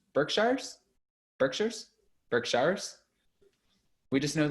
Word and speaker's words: Berkshires: we're back in the berserksheres that's right we're back in dorinda's beautiful bluestone